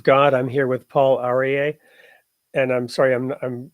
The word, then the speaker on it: Aryeh: I'm here with Paul arier and I'm sorry I'm I'm sure I'm mispronouncing your name do you want to go ahead and share it with us you said it perfectly Paul arier okay great so you